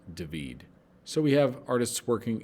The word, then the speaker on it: David: the death of marat by david spelled david pronounced david so we have artists working in spain england